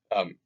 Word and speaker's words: Qin: So Qin is pronounced Qin.